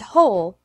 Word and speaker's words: whole: when and where but there are a few exceptions in which the W is silent who whose and whole there are also some